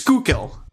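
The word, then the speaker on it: Schuylkill: So, it's Skookil. Skookil County.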